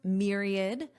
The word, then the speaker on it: myriad: Let's review myriad. And notice the pronunciation. There is no a sound. It's id myriad myriad.